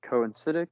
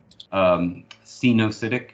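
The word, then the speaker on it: coenocytic: I have a question about like coincidic, like the mycelium. So what's the advantage of a mycelium being coincidic? Cenocytic is the pronunciation, but advantage is it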